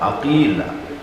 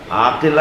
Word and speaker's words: عقیلہ: بیت کا کمال ہے۔ عقیلہ، عقیلہ، عاقلہ نہیں، عقیلہ۔ جس لہجے میں قمر بنی ہاشم بولا جاتا ہے نا، اسی لہجے میں